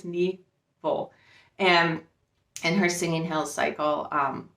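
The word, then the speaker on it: Nghi Vo: I actually looked how to pronounce that. I think it's Nevo, and her Singing Hills cycle.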